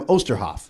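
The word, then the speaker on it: Oosterhoff: comes to osterhoff is how to pronounce his last name it's like Oster like toaster Oster so now I think about that oh it's like toaster it's Sam osterhoff osterhoff so you go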